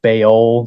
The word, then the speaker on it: Baal: A lot of Christians call him Baal, but I think it's actually pronounced Baal. Baal, I think that's how you say it.